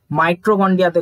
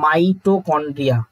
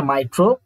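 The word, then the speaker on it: mitochondria: Krebs চক্রের বিক্রিয়াটি সাইটোপ্লাজমে ঘটে এটা একদমই ভুল মাইটোকন্ড্রিয়াতে ঘটে এটার অরিজিনাল অ্যানসার হচ্ছে মাইটোকন্ড্রিয়া মাই টো কন্ড্রিয়া এটা হচ্ছে এর অরিজিনাল অ্যানসার ঠিক আছে মাইট্রো মাইটো মাইটো না মাইটো না মাইটোকন্ড্রিয়া ঠিক আছে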